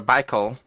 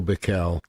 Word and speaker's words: Bikel: least especially on the Broadway series said Theodore Michael and I sure I did not pronounce that right I don't know if it's pickle or Michael it would be I've heard it pronounced t o Bikel TI o Bikel now stand corrected and go